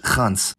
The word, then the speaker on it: gans: Ya, unlike what happened with the other plosives, Dutch went full out on the fricative form of /g/, which is now pronounced [χ]. So we had Proto-Germanic *gans, which became Swedish gås and English goose, but Dutch gans.